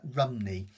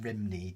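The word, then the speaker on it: Rhymney: Um, if you if you say it in Welsh, I can't pronounce it completely in Welsh, but it it's like um Rumi rather than Rimney, just so you know.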